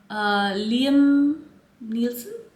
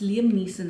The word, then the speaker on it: Liam Neeson: And I think Liam Nielsen, that's whom I would give this perfume to. I think I said his name wrong. It's Liam Neeson, I think, not Nielsen.